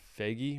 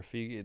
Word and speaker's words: Feige: I don't know if I think it was Kevin Feige or Figgy. The the guy behind, how do you say it? I think Feige.